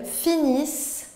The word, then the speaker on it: finissent: Et vous voyez, on ne prononce pas le ENT du pluriel.